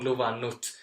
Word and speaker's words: luvannut: So if you say on luvannu, it's on luvannu. You have all vowels and all consonants are very soft. But then you have T at the end, which is very hard.